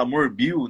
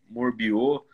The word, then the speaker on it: Morbio: a pronúncia né porque tem gente que fala amor Bill né Morbi o é Paulo morre mesmo assim que pronuncia e assim é bom